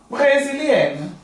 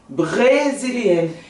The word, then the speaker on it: brésilienne: Eu, na verdade, eu corto a sílaba em duas. Aí eu falo como? Eu falo br e re, né? Br, re, br, brésilienne.